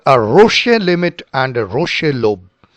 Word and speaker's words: Roche: So we will stick to the English pronunciation which is called a Rocher limit.